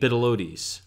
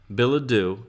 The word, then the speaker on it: Bilodeau: They have last names that are not pronounceable. Lorna Sasabanos and Kate Bidelodes. What's her last name? Bilodos? It's Lorna Sabanos. Sabanos. Kate Billadu. Kate Bilodeau and Lorna Sabanos.